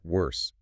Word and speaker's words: worse: It goes bad, worse, the worse. Worse is the tricky one there. It's spelled W-O-R-S-E. It sounds a bit like nurse or purse.